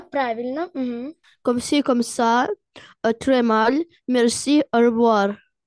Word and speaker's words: très: Très mal. Merci. Merci, au revoir. Давид. Salut, bonjour, bonsoir, bonne nuit. Comment ça va? Ça va super bien. Comme si comme ça. Très mal. Смотри, буква S не читается.